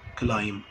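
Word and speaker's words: climb: بتعامل في النطق كافيهات كلمه هنا البي ما اتنطقتش الام هي اللي اتنطط فانا بتعامل بحرف ايه الام كلاين كلايم كلايم يبقى انا بتعامل بالصوت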